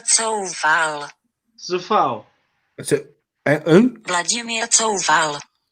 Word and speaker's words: Coufal: Listen, this is Google Translate, and this is how you say it in Czech. Vladimír Coufal.